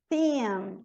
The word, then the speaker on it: theme: Them, theme, I, no alfabeto, I. Então, é theme, e o E não pronuncia, ó. Theme, termina no M.